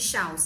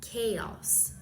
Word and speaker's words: chaos: E a pronúncia não era nada de chal, mas sim chaos. Chaos.